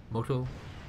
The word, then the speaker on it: Motostrelki: I've been told the proper pronunciation of this is Motostrelki.